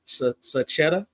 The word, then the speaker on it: Sachetta: I can't complain now is your last name pronounced s saetta you got it okay all right you